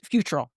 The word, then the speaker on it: Futrell: Brenda Futrell and Chris Futrell. Think of the word fruit. Chris Futrell.